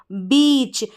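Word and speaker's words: beach: ई और ए साथ में आ रहा है, इसका उच्चारण भी बड़ी ई के रूप में, यानी ई साउंड इसका उच्चारण हो रहा है। और सी एच, जब भी आपको सी एच साथ में नज़र आ जाएंगे तो आप इसको पढ़ देंगे च। क्या पढ़ेंगे? च। तो क्या बना ये? बी को ब, फिर ई ए ई और सी एच को च, बीच।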